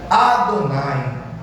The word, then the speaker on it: Adonai: A pronúncia mais correta para chamar pelo nome de Deus é, escreva, Adonai.